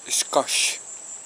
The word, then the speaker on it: Xcoch: vamos de regreso Bye finalmente descubrí que la pronunciación correcta es scos vaya Aventura verdad después